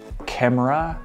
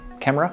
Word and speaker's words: Kamerar: or the camera slider I have trouble saying that word camera it's spelled k a m e r a r camera camera so first up I thought